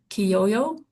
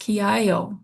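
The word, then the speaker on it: kiaayo: That word there, kiyoyo, is pronounced kiayo, and that is actually the Blackfeet word for bear.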